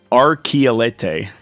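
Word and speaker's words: Archylte: according to Microsoft answers the pronunciation of it is archelete archelete okay R Kelly interesting history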